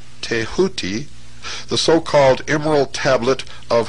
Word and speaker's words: Thoth: ibis-headed scribe of the gods Thoth, pronounced Tehuti.